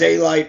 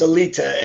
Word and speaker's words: Alite: you pronounce it it's growing up in the street it was a light but it's really pronounced elita and no one everybody says what what so we just say john elite you know okay guys